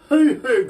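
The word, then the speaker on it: huhu: go rhino have you ever heard of a hoo-hoo grub yeah i don't think so no i haven't okay now let me spell it for you h-u-h-u grub okay yeah no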